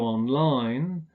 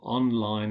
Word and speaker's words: online: the final syllable, go online. If we use them as adjectives, we stress the first syllable, online help.